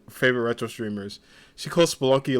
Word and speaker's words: Spelunky: She calls Spelunky like Spelunky or Spenlunky, and I always laugh because I'm just like it's Spelunky, but it looks like Spleenlunky sometimes.